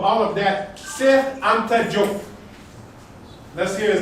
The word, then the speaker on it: Diop: Now on top of all of that, Cheikh Anta Diop. Let's hear his name. Cheikh Anta Diop. I don't want to hear you say Diop. That is how English speakers pronounce French spelled words.